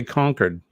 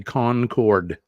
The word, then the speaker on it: Concord: hello hello Concord so here in New Hampshire we say conquered conquered the rest of the people uh the rest of the folks around the world say Concord we don't pronounce it